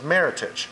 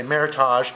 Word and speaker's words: Meritage: and so the com combined name was Meritage which is a very American pronunciation A lot of people see it now and think it looks French the say Meritage so it kind of goes both ways well earlier now you